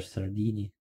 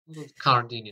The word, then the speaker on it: Cardini: Caesar Sardini. Cardini, скорее всего. Да, это итальянский, как там на К. Это почитается как К.